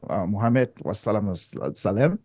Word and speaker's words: Muhammad: up with the Quran Prophet Muhammad Muhammed is how you say so actually he actually